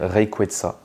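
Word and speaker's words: Rayquaza: des ailes voilà donc normalement on devrait dire reyeta mais bon moi je vais continu continuer de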